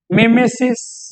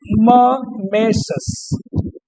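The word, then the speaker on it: mimesis: तो सबसे पहला है, अब इसका प्रोनाउंसिएशन भी आप अच्छे से देखना, आप पढ़ेंगे मिमेसिस, माइमेसिस, लेकिन इसको पढ़ते हैं ममेसस, ममेशस, इसको ममेसस पढ़ा जाता है क्योंकि ग्रीक वर्ड है ये।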